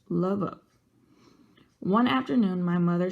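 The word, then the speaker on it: Lwów: Maybe the nearest big city, Lvov, pronounced Lvov.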